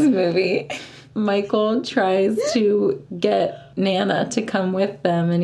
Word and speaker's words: Thnana: Come on, Thnana! It's the little, like, why does he say it like that? Because he's a baby. It's literally like T-H-N-A-N-A.